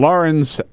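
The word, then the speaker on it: Laurens: Robert is in Lawrence. Is that how you pronounce it? Come on, Peter, South Carolina. Lawrence, absolutely.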